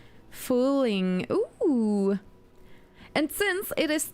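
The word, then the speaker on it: Fuling: It translates to ugly nasty one or more like a rascal pronounced fooling."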